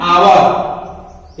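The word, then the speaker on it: hour: जैसे दूसरा उदाहरण देखते हैं, एन आवर, इसको हावर नहीं पढ़ते हैं, एक यहां साइलेंट है, एन आवर, इसकी शुरुआत किससे हो रही है?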